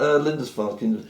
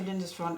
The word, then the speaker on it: Lindisfarne: I've learned how to pronounce it because there is a tribute band to Lindisfarne called Linda's Farm. okay. And so when I have to say Lindisfarne, I think of Linda's Farm and just change the M to an N.